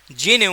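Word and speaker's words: GNU: here a fun fact this ji एनय licence is technically pronounced as जीनू एंड इट इज एन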